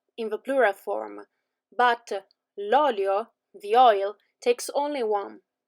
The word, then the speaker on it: olio: In the first one, the accent is on the end, so lo zio, but l'olio has the accent at the beginning.